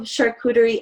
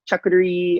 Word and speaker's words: charcuterie: platters and tables um it's a mix of charcuterie and cheese boards but make them extra pretty so charcuterie that's how it's pronounced i just wanted to clarify that just because i've heard like charcuterie and chocolatery and like people just yeah it's all over